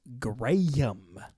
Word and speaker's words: Graham: from robot jocks uh Graham pronounced in England is gram G gram oh gam